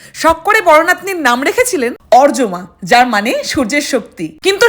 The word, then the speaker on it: অর্যমা: হাই আই এম অরজমা। A Bengali girl currently living in Canada. যদিও বিদেশীরা আমার নামটা উচ্চারণ করে আরিয়ামা।